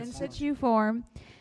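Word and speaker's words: Insituform: In situ form Technologies USA LLC for the 2023 I&I reduction project.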